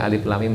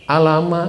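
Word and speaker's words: الم: Ustaz Semarang Ustaz katanya Ini bacanya apa Alama bacanya kok Alif Lam Mim Alama gitu saya melihatkan Qurannya kan dia enggak lihat Quran saya melihatkan Qurannya ini ada harakat fathah enggak enggak ada tapi kenapa ente baca Alama Iya terus bacanya gimana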